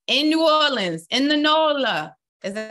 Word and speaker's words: NOLA: And we're looking for men ages 30 to 50 in New Orleans, in the NOLA. Is that how you say it? Yeah, down in NOLA.